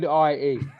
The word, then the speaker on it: Aussie: Yeah, so as in picture this, Ozzie.